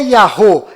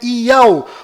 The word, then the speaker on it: YAUH: vídeo eu provei que não é Yahô e nem Yahu, na verdade é Iau, ou seja, os sinais